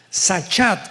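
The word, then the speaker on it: שחת: Esta palabra corromper es la palabra hebrea sachat con s de Samuel y ch. Sachat, sa pronuncia, que significa corrupción moral.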